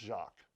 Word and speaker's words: Jacques: They might even say Jack in the film. It's pronounced Jacques.